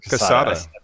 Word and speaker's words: Kasada: Am I pronouncing Casada? Just like the cigar company. Yes, Quesada. But less with a K. Spanish. It's a little more Russian K? with the K, not the Spanish K.